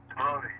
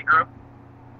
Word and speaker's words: Groot: No, that's not how he pronounces his name either. That's why I thought it was, too. Grody, right? Grody. Cool. Yeah, it's actually Groot.